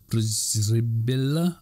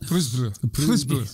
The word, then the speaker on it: Przybilla: So he took a trip out to the location with his colleague, archaeologist Marcin Przybilla, I think is the correct pronunciation of that. Przybilla. It's lots of Z's Try that.